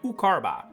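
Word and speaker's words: Iucharba: The I that is present in both the names of Iukar and Eukarba is pronounced U. So this is actually Ukar and Ukarba.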